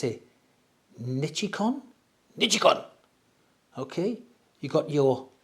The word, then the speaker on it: Nichicon: Japanese, I think you pronounce it Nichicon.